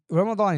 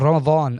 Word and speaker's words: Ramadan: Confusing thing about Ramadan for me is that Ramadan in Arabic is spelt right with a dod, yeah. But I often hear people pronouncing it as if it's spelt with a dha.